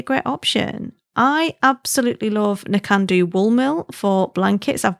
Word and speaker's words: Nakando: Nakando is how you say it.